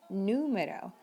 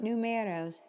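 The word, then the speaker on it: número: number in spanish it's important to emphasize that sound numero not numeros numeros same with telephone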